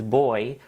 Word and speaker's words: buoy: Then Crafty Geek saying, for what it's worth, Brits pronounce buoy as boy because of how you say buoyant/buoyancy.